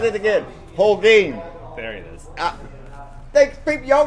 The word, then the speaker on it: Holguin: Holguin.